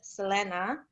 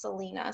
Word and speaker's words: Selena: is pronounced in spanish selena she she will be asked like how do you say her name selena selena and she's like no it's selena so she like prefers the american pronunciation of it but i liked it